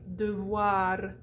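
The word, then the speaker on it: devoir: you got it we also do the schwa at the end of syllables that are not word final so a word like de voir de voir which means should or must so de voir you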